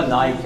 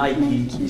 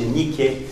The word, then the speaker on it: Nike: C'est pas Nike, hein? Je veux dire Nike. Si vous le prononcez comme il faut, c'est Nike. C'est une déesse grecque.